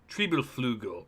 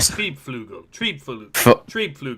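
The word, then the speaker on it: Triebflügel: Yeah, the Focke-Wulf Triebelflugel, or whatever that is. That was the best pronunciation I've ever heard. Triebflugel, that's what it is.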